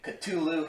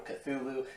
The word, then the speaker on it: Cthulhu: he sings his name Cthulhu, he pronounces the T with kind of like a hard sound, which typically isn't how people pronounce the name. Usually people pronounce it, as I said before, Cthulhu, but I really don't care, to be honest.